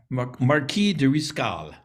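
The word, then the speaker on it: Marqués de Riscal: it's uh reservation has that i think yeah marquis de riscal yeah that's how you pronounce it and so i finally asked one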